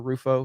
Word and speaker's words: Rufo: and that's what that's the again you know rufo is that a say how do you say his name christopher ruffo is that it yeah uh he has done